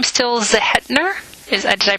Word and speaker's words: Zehetner: for our investigation is your last name stills ahead nur is I pronounced yes right yes ve 888 ER and